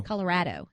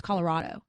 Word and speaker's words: Colorado: last one that you'd Colorado Colorado that's not how you say it my family's from there it's Colorado these type of conversations are